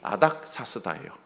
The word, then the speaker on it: 아닥사스다: 왕으로 세웁니다 그 사람이 아닥사스다 이게 히브리 발음이고 헬라 발음은 어 아르타크세르크세스 저도 익숙치가 않아서 아닥사스다